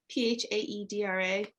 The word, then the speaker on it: Phaedra: so it's about i don't know how to pronounce this name i've always read it as phaedra is that what it is p-h-a-e-d-r-a phaedra oh yeah so phaedra brighton is perfectly